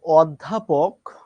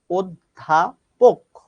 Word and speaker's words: অধ্যাপক: আমরা বলি অধ্যাপক যার যার মত করে বলি কিন্তু এটার সঠিক উচ্চারণ হচ্ছে অধ্যাপক অর্থাৎ প ওকার দিয়েই উচ্চারণ করতে হবে এবং এই অ ধ্বনিটা